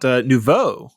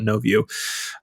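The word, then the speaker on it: nouveau: Uh Jeff has got a story about about Nuvo. I'm going to pronounce it right because apparently it's insulting when I call it no view uh on on Nvidia hardware.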